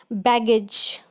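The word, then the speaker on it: baggage: बैगेज, बी ए फिर जी के बाद ए आया तब तो ग पड़ा, और जी के बाद ई आया तो ज पड़ा, बैगेज। रीगर्जिटेशन का मतलब उल्टी करना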